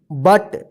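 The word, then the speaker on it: but: पुट देखिए यहां पे एक जगह जो है ना यू का अ उच्चारण हुआ और यहां पे यू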